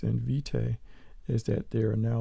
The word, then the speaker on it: Vitae: artrage 7 version is vitae the emphasis is on the first syllable and the means of